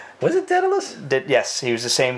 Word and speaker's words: Daedalus: Dallas, however the fuck you pronounce that guy's name. Was it Daedalus?